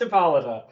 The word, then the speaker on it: Hippolyta: great hour sprung forth uh the daughter of hippolyta hippolyte jacob hippo it is pronounced hippolyta okay see that's weird to me i don't